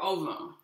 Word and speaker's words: ovum: In Latin, the V, in classical Latin, the V is pronounced as a W. You can just pronounce it as a V. There's actually evidence that the Romans pronounced the V as a V.